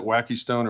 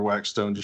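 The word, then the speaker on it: wackestone: Do you pronounce it wacky stone or wax stone? I prefer wax stone because the other sounds silly to me, but judges would disagree.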